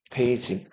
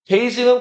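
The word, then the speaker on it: 北京: 북경은 중국어로 읽으면 뭐라고 읽는다? 데이징. 베이징은 고대 어디에 수도였어요?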